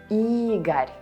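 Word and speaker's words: Игорь: Because in all of them, O is not stressed. And what does it mean? Right, you read it as A. Boris, Oleg, Igor.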